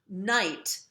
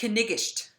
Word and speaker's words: knight: So it's not knight, but knigished. So, a knight in shining armor is a knigished in shining armor, right?